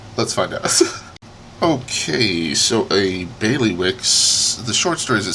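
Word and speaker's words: Bailiwick: bothering me because I don't know how to pronounce it I'm in my head I'm saying Bailey Wick Bailey Wick of gery let me see okay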